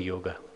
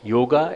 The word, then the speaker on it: yoga: scientific developments of the yoga yoga itself is uh pronounced in two two forms yoga and yog yog means joining inter